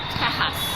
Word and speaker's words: Tejas: Tejas. It's, from what we've heard, it's the Mexican name or Mexican pronunciation of Texas.